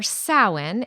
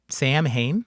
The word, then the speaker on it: Samhain: [cough and clears throat] Halloween or sin is an ancient Celtic tradition. Wait, wait. Sin? Yes, that's how it's pronounced. Not Sam Hayne.